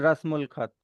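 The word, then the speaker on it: रस्मुल ख़त: करोगे, उल प्रोनाउंस करोगे अगर बीच में आ रहा है तो। शुरुआत में इट्स अल और द, बीच में अगर आ रहा है तो लिखा अलिफ लाम ही जाएगा, प्रोनाउंस होगा उल, और उसका मीनिंग होगा ऑफ।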